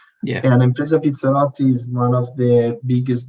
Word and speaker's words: Impresa Pizzarotti: Now you're going to pronounce that properly for me. That's perfect, Kevin. Impresa Pizzarotti, that's perfect.